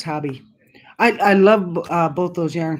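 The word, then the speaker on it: Hobbii: Yeah, little knits, and I always said Hobie, but I guess it's pronounced hobby.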